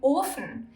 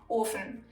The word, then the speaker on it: Ofen: If, however, the consonant is single, the vowel in front of it is pronounced long, like in Ofen. There's only one F, so the O is long, Ofen.